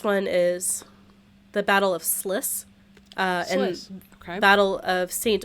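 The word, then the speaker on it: Sluis: Uh, it's spelled L U S L U Ys, but Sliss.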